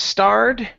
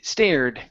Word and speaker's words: stared: word here instead of starred okay right here instead of starred it's a stay stared stared stared okay very good and this